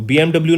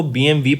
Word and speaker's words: BMW: next name the person जिनको appoint किया गया president and सीईओ ऑफ बीएमवी group BMW नहीं बोलते हैं स्टूडेंट्स इसको BMV प्रोनाउंस करते हैं राइट लिखा BMW जाता है